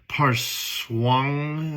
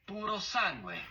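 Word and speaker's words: Purosangue: I'm not Italian, I'm American, so I'm not going to say it correctly, but it is Puro sangue.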